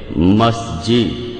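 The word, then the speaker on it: مسجد: আসলে মিশরী আরবি শব্দ যেটার সঠিক উচ্চারণ হবে মাসজিদ এখন মসজিদ শব্দটা একবচন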